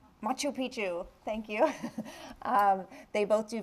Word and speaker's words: Machu Picchu: Mr Ganesh is going to tell me I pronounce it wrong makapichu Machu Picchu thank you they both do visit that which